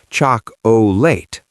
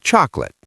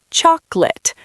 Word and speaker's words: chocolate: They say chock O late. But a native speaker kills that middle vowel. It becomes a ghost. We say chocolate. Two syllables. Chocolate.